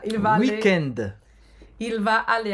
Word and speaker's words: week-end: E a pronúncia é bem afrancesada. Week-end.